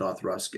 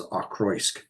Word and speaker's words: Auchroisk: I forget that you're supposed to pronounce it Othrusk and pronounce it the way it looks, which it looks like it should be pronounced as Ochroisk, because it is Auchroisk, if I remember correctly.